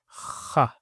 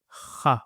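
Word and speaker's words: خ: And this is pronounced as kha. Kha with a fatha on top. Kha. And the easiest way to remember this is kha, like you're clearing phlegm, and that phlegm has come out.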